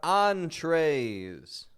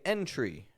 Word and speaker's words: entree: You want to make sure when you read your menu, you don't say entry. Entry. The entry, well, that's the door. That's the entry. We want the entree. That is your main course.